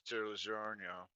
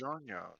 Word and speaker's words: DiGiorno: I said it correctly the third time. No, you added an extra syllable at the end there. Red Robin.